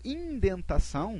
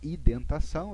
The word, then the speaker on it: indentação: Quando eu falo indentação, muita gente fala identação, eu pesquisei e o Google me promete que é indentação, tá?